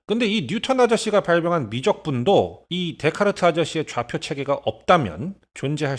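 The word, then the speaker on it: Descartes: 거야요 아저씨가 하신 거죠 여기 보면 데스 카르 테스라 써 있죠 근데 그렇게 읽으면 안 되고 데이트라고 발음해야 되는 겁니다 즉 데카르트 아저씨죠 슈퍼 울트라 초특급 레어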